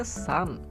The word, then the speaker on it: Sean: novendra sebagai putih dan Sin memegang hitam tapi sebelumnya di video Kemarin waktu saya bahas scene melawan hava zikirko ada beberapa yang komen Bang itu bacanya Sun bukan Sin atau apalah I gimana ya